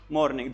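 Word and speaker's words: morning: up early in द मॉर्निंग ध्यान रखना बच्चों यहां पर एन आर वर्ड है ना वो क्या है साइलेंट है इसको मॉर्निंग ना बोलकर आप क्या बोलो मॉर्निंग you should get अप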